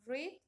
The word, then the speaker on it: read: Read en tiempo pasado se escribe igual. En tiempo pasado se escribe igual, pero se pronuncia diferente, ¿ya?